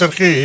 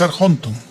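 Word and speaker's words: ἀρχόντων: Pero aquí no es arge, es arjonton.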